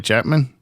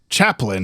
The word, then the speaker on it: Chaplin: Charlie Chapman? Is that right? Chaplin. My brain was like, James, you're not saying it right, but I didn't know which part was wrong.